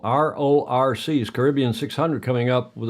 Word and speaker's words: RORC: Hey, The RRCs, well, I said that as kind of one syllable. RORC's Caribbean 600 coming up with a start on Monday.